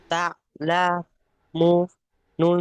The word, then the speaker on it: تعلمون: নুন জাবার না, তা'লামুনা এই তা'লামুন এই মুনটা গুণনা হয় মুটা টান হবে ওয়াও মাদ্দা তা লামু বানান করার সময় যে টানটা হবে আর টানা পড়ার সময় সেই টান হবে, বুঝতে পেরেছেন? হ্যাঁ তা'লামুন হ্যাঁ ঠিকই আছে।